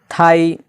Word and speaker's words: thigh: लाइट, THIGH, थाई, यहाँ पर भी GH साइलेंट हो गया, जिसका माना होता है रन।